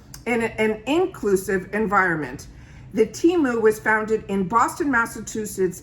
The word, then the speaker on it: Temu: And it says Temu, which is how it should be pronounced, is an online marketplace that connects consumers